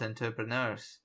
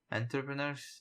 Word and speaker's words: entrepreneurs: time my parents opposed enterpreneurs interpret and trip owners entrepreneurs yes and it is the right pronunciation although now that'll be